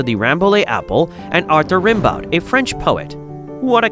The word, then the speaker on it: Rimbaud: It also reminded him of the way some people pronounced the name Rimbaud, a French poet he had been studying.